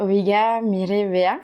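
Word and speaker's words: Oiga, mire, vea: Donc la première, Oiga mi revea, je le prononce mal ?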